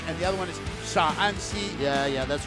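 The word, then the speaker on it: Shaanxi: The one is Shanxi and the other one is Sha'anxi.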